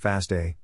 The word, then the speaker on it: FASTA: the smith waterman algorithm fosta is pronounced fasta and stands for fastall